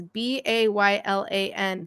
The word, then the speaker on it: Baylan: Or they'll spell it Baylon. I'm like, no, he is Zaddy. He is Baylan.